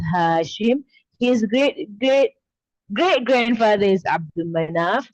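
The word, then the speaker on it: Abd Manaf: His great grandfather is Abdul Manaf. There is no lam there. Okay, it's Abdul Manaf.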